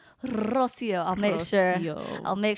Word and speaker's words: Rocio: But the emphasis in the name Rosio, I'm here for it because a lot of people botch my name, especially living in Oklahoma for so long. They can't say my name right. And I'm like, it's really not that hard. But I love it. Especially the roll on the R.